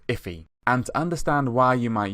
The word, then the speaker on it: IIFE: for immediately invoked function expression and it's actually pronounced if e and understand why you might use it let's